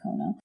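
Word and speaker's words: Kono: who is tim cono i think you say his name kona i think so the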